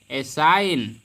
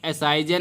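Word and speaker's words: assign: इसी प्रकार से होता है एसाइन। एसाइन मीन्स क्या होता है? सौंपना। इसको एसाइजन नहीं पढ़ेंगे। तो जब भी एन के पहले जी आएगा तो आपका जी साइलेंट हो जाएगा।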